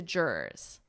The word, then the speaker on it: juror: This might be a difficult pronunciation because of that double R juror juror. So we just have juror and then ur sound attached to it Juror juror. So there are actually 2 syllables juror jury is.